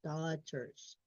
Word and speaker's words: daughters: Daughters. The G and the H are grayed out because they're silent.